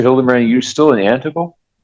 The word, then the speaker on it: Antigo: Hildebrand, are you still in Antigo? Yes, I am. Okay. Yeah. 202 Hudson Street? It's pronounced Antigo.